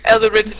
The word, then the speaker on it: Eldritch: Oh god, with his eldritch With his Eldritch Blast. Eldritch- No, wait, that's actually how it's pronounced.